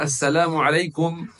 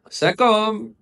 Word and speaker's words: assalamualaikum: Bila kita nak kata assalamualaikum seorang muslim nak ucap assalamualaikum kepada seorang muslim yang lain bacanya dengan lafaz yang betul dan niat kerana Allah Subhanahuwataala. Adapun setengah orang yang mereka bila melihat seorang muslim mereka kata sakum itu apa?